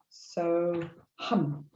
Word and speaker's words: So Ham: h a m and it's sometimes pronounced so hum as opposed to ham so it's entirely up to you how you pronounce it of course um this